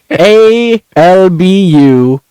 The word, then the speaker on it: Albuquerque: And then also pronounce, and I'll say, oh, it's called Albuquerque. ALBUQUERQUE.